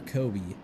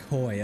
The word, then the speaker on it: Coy: I believe that was that Coy or Kobe? Coy, okay. I said it wrong earlier.